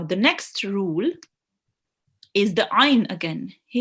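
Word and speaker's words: عين: So this rule, it states that ayn should be pronounced from the middle of your throat. Okay, so ayn. And make sure you don't do a jerk sound as well.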